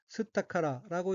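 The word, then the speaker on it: 吸ったから: 둘째 줄 오른편 첫째 번 어깨는 한자가 마실 흡자가 들어있고 일본어로는 스타카라라고 읽으며 스타카라는 공기 따위를 들이마시다 는 뜻의 타동사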